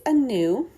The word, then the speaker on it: Anu: is a celtic goddess um her name is anew that is how it is pronounced um she sometimes goes by anna or